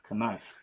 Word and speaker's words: knife: This resulted in the K being mispronounced or not pronounced and gradually eliminated. Wow. Knife.